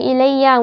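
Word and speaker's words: إليّ: You say ilay when attached to pronouns, but you say ilayya when it is attached to the ya of huruf jar.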